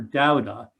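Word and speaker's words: Doudna: i'm sorry uh d-o-w-d and then like nuh kind of thing that's how you pronounce her last name but uh jennifer doutna um recently you might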